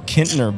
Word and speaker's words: Kintner: so we are hanging out with the Little Kintner Boys, who just rocked the Replay Guitar Exchange stage right here at Tibbetts Corner at Gasparilla Music Fest. So first off, where does the name come from, Little Kintner Boys?